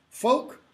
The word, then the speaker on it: folk: me all the time the L there is silent folk rhymes with yolk as an egg yolk it's not a York